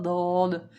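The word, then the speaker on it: ض: It is called Rod, and Arabic they call Dod.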